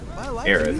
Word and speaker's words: Aerith: Aerith, I was saying it right.